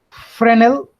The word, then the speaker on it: Fresnel: which are known as friend l f r e s and l so it's it's a French word so it's pronounced as